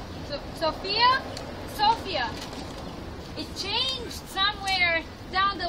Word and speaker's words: Sofia: is sophia the name of our city is pronounced sofia sophia sofia it changed somewhere down the line but i